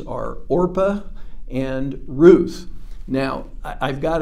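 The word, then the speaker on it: Orpah: our famous Oprah's real name is orpa and on her birth certificate it says orpa but at some point in time and maybe just because they didn't like the sound of orpa or somebody mispronounced her name and it stuck she became uh Oprah so anyway there's two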